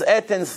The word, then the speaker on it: Athens: Athens, that's how you say it in English.